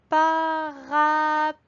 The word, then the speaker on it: parapluie: Alors, dans parapluie, on voit qu'il y a une lettre que l'on n'entend pas, le E muet. On peut donc rajouter l'alarme lettre muette et je mets un petit point sous le E pour montrer qu'elle ne chante pas.